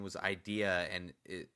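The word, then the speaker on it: Eyedea: battle and uh uh his his name was idea and it it's spelled e ye DEA so I like you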